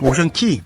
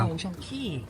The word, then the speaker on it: Ocean Cay: Ocean Key~ Họ phát âm là Ocean Key.